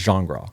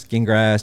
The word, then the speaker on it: Gingras: say it again my it's pronounced genre genre so that what is that French yes okay well when you see it on paper a lot of people skin grass Gene grass like that yeah Ben